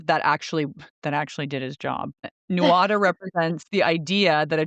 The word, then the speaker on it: Nuada: Then there was the Nuada, and this is spelled Nuada, and he was the first king of the Tuatha Dé Danann.